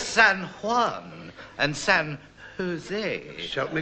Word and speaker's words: San Juan: It's San Juan and San Jose. Help me God. Yes, in Spain, they always pronounce the J's as H.